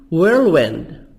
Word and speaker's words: whirlwind: Whirlwind, event, H silent.